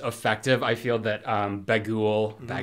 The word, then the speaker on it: Bughuul: i feel that um bagul i don't know how is it bagool apostrophe that's not how it's spelled but it's spelt b-a-g-h-u-u-l uh yeah and he's